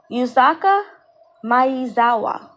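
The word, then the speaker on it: Yusaku Maezawa: And this guy here that you're looking at, his name is his name is pronounced Yuzaka Mayawa.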